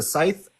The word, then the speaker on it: scythe: Is it a scythe? It's a S-C-Y-T-H? Scythe. A scythe. Scythe? Yeah, I don't I know was how to like, pronounce I it. know I'm saying this wrong. Yeah, it's a scythe.